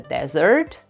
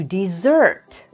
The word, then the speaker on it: desert: be a verb and you pronounce it to desert just like the word with two s's the meaning of the